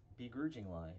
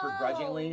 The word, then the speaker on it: begrudgingly: Begrudging lie. Remember, you couldn't pronounce begrudgingly, so you call it, you said begrudgingly, begrudging lie? I didn't say that. You said begrudging lie.